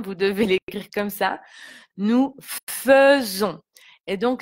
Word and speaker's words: faisons: Nous faisons. Et donc le S est entouré de deux voyelles, donc on le prononce comme un Z. Donc si j'écris en phonétique simplifiée, ça sera nous faisons.